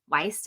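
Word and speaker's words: Wiest: I really like the book 101 Essays That Will Change the Way You Think by Brianna West. Weist, I think is how you say your last name.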